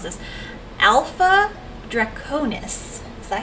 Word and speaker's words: Alpha Draconis: system, but it's called I can't pronounce this, Alpha Draconis. Is that how You pronounce pronounced it? that correctly, yes. Did I do it right? Alpha Draconis.